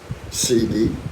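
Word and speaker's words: Sidi: CD, S-I-D-I, is that how you pronounce it?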